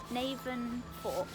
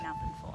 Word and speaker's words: Navan Fort: Navan Fort.